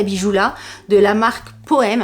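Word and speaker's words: Po&me: là de la marque poemme alors ça s'écrit comme ça po esperluette ça s'appelle une esperluette cette chose là donc po esperluette me c'est la marque poemme ils ont plusieurs formes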